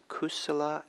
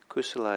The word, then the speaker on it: kusala: important buddhist term and it's in pali it's kusala and akusala kusala is spelled k-u-s-u-l-a no k-u-s-a-l-a and ako solos a